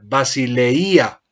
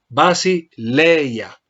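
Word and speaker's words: βασιλεία: reconocimiento porque si no alguno podría pronunciar basilea y es incorrecto debemos pronunciar basileia coloco el acento como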